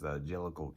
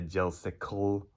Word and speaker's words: jellicle: they prefer themselves as jellicle cats that's j e l l i c l e and johnny for the record when you ended up saying it you'd say jelsicle okay it's not gel cycle it's angelico the jellicle